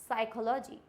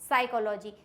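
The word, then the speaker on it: psychology: अब हमारा क्या है पी साइलेंट कब होता है एस से पहले आया पी साइलेंट होता है एस से पहले अगर पी आ जाए तो इट मींस यहां पे पी हो जाएगा साइलेंट फॉर एग्जांपल साइकोलॉजी क्या हो जाएगा साइकोलॉजी साइकोलॉजी की स्पेलिंग में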